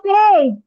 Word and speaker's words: said: SAID সেড। এখানে তো লেখেও দিয়েছি যে উচ্চারণ বাংলায় করেও দিয়েছি যে সেড।